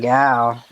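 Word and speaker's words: gyal: Is it pronounced gal? Right. The same. Why do they spell it with a Y? Is it silent? It's just. It's the same way you spell it with the same. You can pronounce it without the Y, but they speak differently, so they just put it differently.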